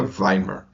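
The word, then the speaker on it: Weimar: W E M A R, mas segundo o chat GPT, eh, se pronuncia Weimer.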